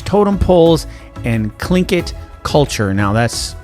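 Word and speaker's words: Tlingit: which is known for its totem poles and clinkit culture. And now that's pronounced correctly. Although spelled t l i n g i t. It is clinkit culture.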